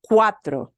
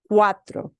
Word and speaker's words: cuatro: cuatro bolsas cuatro and notice we've got a diphthong U and a cuatro and the CUA is that why they run together cuatro cuatro think the word quartet and it's got the same kind of sound combination quartet cuatro cuatro